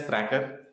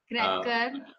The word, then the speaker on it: KRACR: Okay, so it's pronounced as cracker. cracker.